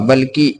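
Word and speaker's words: بِ: बे के नीचे ज़ेर की मात्रा है। ज़ेर की मात्रा के आ जाने से अब इस बे का उच्चारण इ के रूप में होगा। यानी अब इसे बी पढ़ेंगे।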